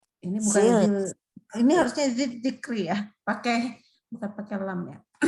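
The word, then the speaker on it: ذكري: Jadi bacanya tipis saja. Ini bukan zil. Ini harusnya zikri ya.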